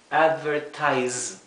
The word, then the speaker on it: advertise: Generalmente aunque no siempre se pronuncia Z como un zumbido Z como adverti verdad no es es Z advertise y aquí es assessment